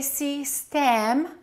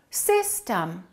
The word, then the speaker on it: system: We don't say C stem. We say system. The first syllable is stressed. The second syllable is reduced.